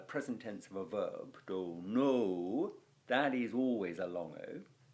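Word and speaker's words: dōnō: learn it, you kind of learn that it's pronounced dono.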